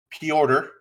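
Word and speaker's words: Petr: as he as he says his name is peorter i don't know how you get p order out of p e t r but he says it's pronounced p order he's russian that one's russian somebody was saying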